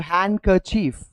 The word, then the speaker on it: handkerchief: So handkerchief generally when we pronounce maybe D is silent but not that much.